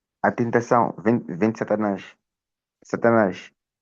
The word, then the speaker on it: Satanás: Satanás. Satanaj.